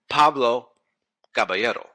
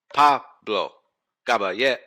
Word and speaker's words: Pablo Caballero: Pablo Caballero. Pablo Caballero. Yes, my son's name will rhyme with itself, like history seeing itself